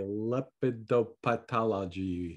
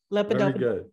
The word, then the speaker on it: lepidopterology: That is I, lepidopathology. They're okay. They're not that super. No, say it right. Somebody knows it right. Lepidopterology.